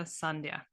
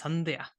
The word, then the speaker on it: Sandhya: So like the sun and then dia. So kind of together, Sandhya. If you want to be really Indian, it's Sandhya, but a little bit tricky.